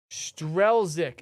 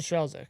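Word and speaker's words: Strzelczyk: Strelzik is how it's pronounced. So, Justin Strelzik. Justin Strelzik.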